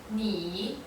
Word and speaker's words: 你: 以你 So this is how you pronounce 你 as in 你好.